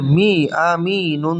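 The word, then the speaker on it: أمين: সাকিন হয়ে যাবে, এবং মদের হরফের পরের হরফ ওয়াকফ হওয়ার কারণে এখানে 3 আলিফ টেনে পড়তে হবে।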